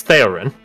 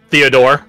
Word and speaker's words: Theorin: back and takes yours it's Theo Theo okay it's theorin not Theodore like a lot of free rors assume it is I mean it sounds